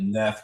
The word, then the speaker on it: Neath: I'm pronouncing it Neath because it looks like dead.